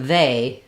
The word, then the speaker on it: they: We don't have a word this, but this word they sounds like it should be spelled this way. So the EY says the AY sound in they. So they say, both of these vowels are the same.